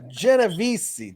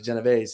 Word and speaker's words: Genovese: the country um and he corrected me on how to pronounce my last name he said it was genev not genovesi and I argued with